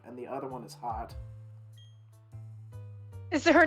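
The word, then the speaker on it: Haute: hot yeah like aw no it's like h-a-u-t-e with a dash on top of it out but but no one knows how to pronounce it so she's like call me hot as long as yeah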